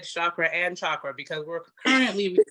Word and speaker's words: chakra: If you're someone who is really on kind of the chakra aspect, or let me say chakra, because that's the correct pronunciation, you guys.